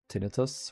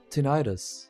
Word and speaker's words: tinnitus: Yeah, I have tinnitus. What it was? How is it pronounced in here? Tinnitus pronunciation. Tinnitus. Tinnitus. I always recall that it's pronounced differently in English. We say tinnitus.